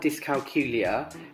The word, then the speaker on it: dyscalculia: found out I had dyscalculia which is pronounced to rhyme with Julia um when I was